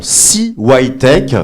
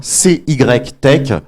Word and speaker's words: CY Tech: Alors justement, CYTech, donc c'est les deux lettres, C-Y-Tech, mais on les prononce à l'américaine puisqu'on est un petit peu tous très internationaux, et on va en parler de l'international justement.